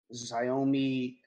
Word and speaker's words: Xiaomi: He has the smartphone Xiaomi Redmi Note 9S.